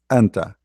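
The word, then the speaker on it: أنتَ: one for male, uh, the one for the male have fatha, anta.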